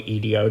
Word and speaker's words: EDO: Just bear in mind, EDO is literally EDO, just pronounced as one word.